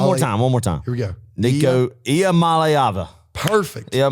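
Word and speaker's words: Iamaleava: more time one more time here we go n malava perfect all right we're if you break it up into three syllables yep Mal AA Mala but no uh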